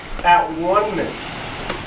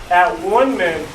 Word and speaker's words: atonement: the meaning of atonement an alternative pronunciation for the word atonement is that one men according to the Oxford Dictionary from an etymology standpoint that one man is a more accurate pronunciation we will talk a